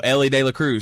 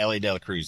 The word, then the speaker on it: Elly De La Cruz: got to watch um uh how do you pronounce his name? This this new phenomenon like talent that's in Cincinnati? Elly Elly De La Cruz. Yeah, Elly De La Cruz.